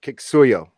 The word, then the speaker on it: Kiksuya: And it's Kiksuya.